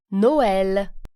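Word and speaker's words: Noël: you Oh II ooh it indicates that the preceding vowel has to be pronounced separately for example Noel Christmas nice corn Catherine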